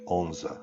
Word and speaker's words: Odense: But the locals actually call it Onse. So it's Odense and pronounced Onse.